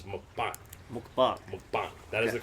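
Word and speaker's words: 먹방: And John let me know that the word for food broadcast in Korean is not pronounced mukbang. It is mukbang.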